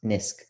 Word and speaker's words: NISQ: So this era that I mentioned is often called the noisy intermediate scale quantum regime, NISQ, often pronounced NISQ.